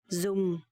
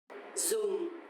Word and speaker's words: dùng: Okay, so actually the letter D in Vietnamese sounds like a Z sound in English. So dùng, you have to close your teeth like this and let the air flow slightly out of your teeth.